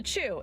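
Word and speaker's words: Tchew: We're going to go visit this place called The Chew. It's spelled T-C-H-E-W.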